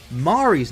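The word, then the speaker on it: Mhairi: Mari's name is also spelt in its traditional Scottish way. The H is silent, although it doesn't actually come from Scotland.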